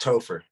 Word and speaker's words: Topher: Christopher Topher hey how do you say your name just Topher topha I'm not a joke